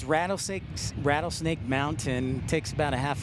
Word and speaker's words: Rattlesnake: And you can tell I've lived in Utah too long because I forget to pronounce my T's. It's Rattlesnake Mountain.